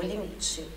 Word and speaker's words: limite: verbo é o meu limite Olha a pronúncia aqui a sílaba tônica no li limite pelo que a vamos